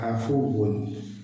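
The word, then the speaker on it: العفو: അല്ലാഹുമ്മ ഇന്നക അഫുവ്വുൻ തുഹിബ്ബുൽ അഫ്വ, രണ്ടാമത്തെ അഫ്വ് അവിടെ സുക്കൂനാണ്, ഫാഇന് സുക്കൂനാണ്.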